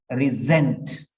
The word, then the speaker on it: resent: it goes into here it is not sent it is resent resent resent resent resent many people don't know the pronunciation also so resent that like Zoo Okay zoo zoo so that is the pronunciation and the word has